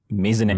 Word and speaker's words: maisonette: An executive maisonette. Maisonette. Yes, that's the EM. correct pronunciation.